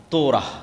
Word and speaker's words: তোরাহ: তোরাহ বলে ইহুদিরা উচ্চারণ করে যে তোরাহ যখন তাওরাত দেওয়া হলো।